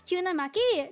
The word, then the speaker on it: tyunamaki: How do you pronounce tuna maki? Tuna maki with the Y. The Y is not silent, but I will forgive you if you say tuna.